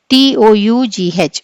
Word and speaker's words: tough: How is the GH pronounced in the word TOUGH?